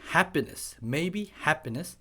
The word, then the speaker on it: happiness: maybe happiness, happiness, 쌍 P가 들어가면 쌍 비읍이라고 생각하시면 돼요.